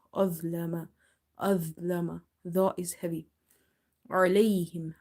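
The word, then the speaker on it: عليهم: Ain is from the middle of the throat. Try producing it from the middle of the throat. Try pronouncing alayhim, alayhim. If you say alayhim, then it will be from the lower part of the throat and it will replace itself with alif or hamza.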